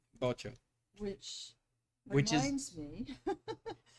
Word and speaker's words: Vocho: Vocho. Yeah, but you pronounce it like a B, like a hard B. Bocho.